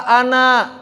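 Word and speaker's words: أنا: maka hurufnya tetap dianggap Kenapa kata Ana ada alifnya kalau enggak ada alifnya bingung bisa dibaca Anna bisa dibaca Inna maka ada Alif dan orang-orang Arab ketika berbicara kalau bacanya sendirian enggak dibaca an an saya itu bukan an kan apa saya Ana tapi ketika wasal Ananya enggak panjang w Oleh karena itu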